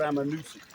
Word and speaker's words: Ammonoosuc: I'm supposed to meet Terry on a wild I'm a Noosa but it's which is spelled a m m o n o o